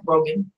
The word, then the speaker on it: Rogen: I like the those that are in the movie, you know, they say, now this is co-directed by Seth Rogen, did I say his name right?